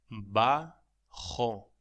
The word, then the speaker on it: bajo: La pronunciación de bajo es bajo. La J se pronuncia como la H aspirada en inglés o CH en alemán, ag.